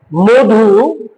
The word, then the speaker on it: মধু: যদি এরকম থাকে শব্দের শুরুতে মানে শুরুতে অধর পরে রস বা দীর্ঘ থাকলে এটাও এর উচ্চারণ এর মত হবে। ও যেমন মধু বকুল বধু অনুদিত একইভাবে আগের মত আমরা কি